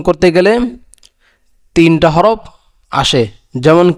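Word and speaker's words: ت: আর তা উচ্চারণ কায়দা হলো জিহ্বার আগা সামনে উপরে, জিহ্বার আগা সামনে উপরে দুই দাঁতের গোড়ার সঙ্গে লাগাইয়া তা তা উচ্চারণ হয়।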